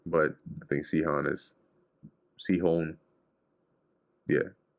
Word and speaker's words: Sihon: Chon with a long O. Hon. Sihon. Or Sihon. This with the stress on the first syllable.